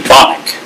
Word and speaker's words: Bonnick: Now like what I was trying to tell Joel, I pronounce his name Bonnick.